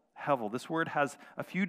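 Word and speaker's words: הבל: is the word heavil it's spelled h-e-b-e-l that's the English transliteration of it but it's pronounced hevel hevel this word has a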